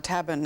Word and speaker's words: tabun: We know about sarin, nerve gas, but tabun, or tabun as it's pronounced, and lewisite.